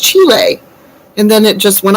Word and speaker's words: Chile: And I said, Aunt Bob, it's pronounced Chile.